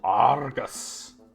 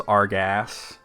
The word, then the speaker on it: Argus: So this is Castle Argus. You have to say it like that. In the old fan translation, this was Argas, like with an ass at the end.